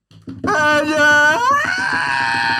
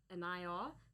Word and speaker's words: Enaya: Alright, Carl, so how do you say your name properly for this? Enaya. Enaya, sorry.